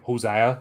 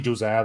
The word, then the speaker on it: Josiah: Now I keep thinking Hosea, you know, like just been around too many Spanish people. But it's actually Josiah, that's the way they pronounce it.